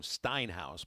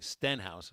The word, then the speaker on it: Stenhouse: called in earlier and called him steinhouse but there's no I in his name Stenhouse is how it's spelled and uh